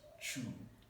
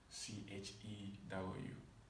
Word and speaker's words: chew: Take note, this verb is pronounced chew, not chew. It's chew, C-H-E-W, chew.